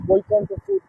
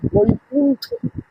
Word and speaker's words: বৈকুণ্ঠ: এই জঙ্গলের নাম ছিল বৈকুণ্ঠপুর ফরেস্ট ডিভিশন বা বৈকুণ্ঠপুর বন বিভাগ। মনে রাখবেন, নামটা বৈকুণ্ঠ নয়, বৈকুণ্ঠ। প্রচলিত বাঙালিরা বৈকুণ্ঠ না বলে তাকে বৈকণ্ঠ বলে, সেটা ভুল উচ্চারণ।